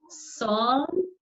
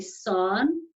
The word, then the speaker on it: Samhain: Halloween, long before, was a Celtic festival that's pronounced Samhain, but it's spelt Samhain, so it looks like it's Samhain, but it's actually Samhain.